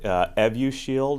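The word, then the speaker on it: Evusheld: talking about yeah so the astrazeneca product evu shield as it's pronounced is a combination of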